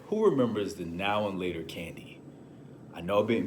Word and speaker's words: Now and Later: The wrapper says now and later. I was looking at it as a now or later. We would mispronounce it now laters. We're like, yo, we eating some now laters.